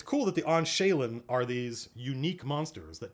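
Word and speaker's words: awnsheghlien: no mine is usable so it's pronounced on shaylen that word let's do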